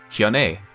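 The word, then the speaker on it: Hyun-ae: May, A, so A-E is A, so Hyun A, so it's Hyun A. May, A, yeah, okay. So I did pronounce that right, Hyun A.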